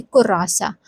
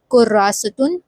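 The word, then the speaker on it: كراسة: is just ha and we will pronounce it as kurasa. Okay. So in casual way of speaking in speech we can just say korasa but the proper way of writing be it in formal way korasun will be correct.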